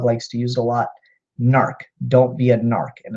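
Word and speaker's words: gnark: to use a lot narc don't be an ark and its GNA RK or g ma RK s odd the G is silent so it's not not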